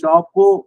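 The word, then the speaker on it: chapeaux: அதே மாதிரி இந்த ஷாப்போ அப்படிங்கறதுல எக்ஸையும் உச்சரிக்க மாட்டோம்.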